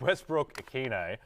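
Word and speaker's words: Westbrook-Ikhine: And Nick Westbrook-Akine. Have I butchered that?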